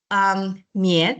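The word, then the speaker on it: 宀: For example, here we have the radical 棉. It pronounced as 棉, or we can also say 宝盖头. When you are learning Chinese, we say this is 宝盖头, or it pronounced as a 棉, meaning roof.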